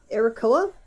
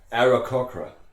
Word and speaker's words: Aarakocra: How do you pronounce their fucking species? It's Arakoa? Aarakocra.